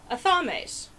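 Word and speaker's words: athame: apply another safety consideration a thumb Ace or etham as some people pronounce it either way while they are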